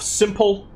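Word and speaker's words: s1mple: at my pronunciation of simple. I'm making an effort to pronounce the P in his name and not make it into a B all of a sudden.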